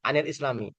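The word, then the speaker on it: عَنِ الْإِسْلَامِيِّ: Kemudian an alislami ya. Cara bacanya anil islami.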